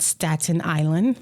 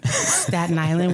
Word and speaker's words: Staten Island: Not Staten Island. Staten Island, we just put it all together.